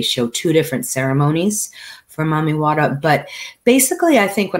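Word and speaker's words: Mami Wata: to water is called mommy wada m-a-m-i-w-a-t-a wata like they spell it in jamaica water and she comes from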